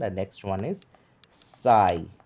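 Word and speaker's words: psi: ये सिमिलर दिखता है, और इसका उच्चारण होता है प्स, ठीक है। कैसा उच्चारण होगा, प्स, प्स, ठीक है, प्स। हम लोग पी एस लिखते हैं बट उच्चारण इज प्स, जैसे कि टैप्स, ठीक है, कैप्स, ठीक है, फाइन, लूप्स। तो लास्ट में ये जो प्स आ रहा है ना, दैट इज साई।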